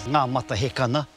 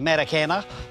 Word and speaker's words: Ngā Matahekana: This is Ngā Matahekana, typical of how they couldn't pronounce it. So for many years it was known as Matakana.